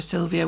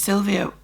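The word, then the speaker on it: Sylwia: that's PR syvia so the W is pronounced with a V and her surum is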